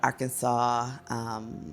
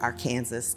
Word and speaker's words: Arkansas: and the members of the Arkansas street, or Arkansas, depending on how you call it, folks have their different ways of pronouncing it.